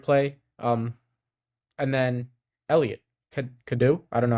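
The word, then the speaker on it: Cadeau: Um and then Elliot Kadu I don't know how to say his last name. Kadau Kadau 19 points on five or five for 11 from four from the three-point line.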